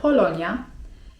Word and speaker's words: Polonya: 'Polska' to po turecku: Polonya (czyt. polonja) I jeśli chcemy powiedzieć, że pochodzimy z Polski to mówimy: Polonyalıyım (czyt.